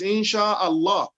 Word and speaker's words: Inshallah: But it's because we are not separating it while we are pronouncing it Inshallah. You understand? Yeah. Shaha, the A in Shaha, the last A in Shaha, you pronounce it together with A in Allah. Inshallah.